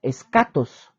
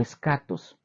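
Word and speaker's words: ἔσχατος: posición este que significa es catos se escribe eschatos esch con ch eschatos o es catos esta significa últimos postreros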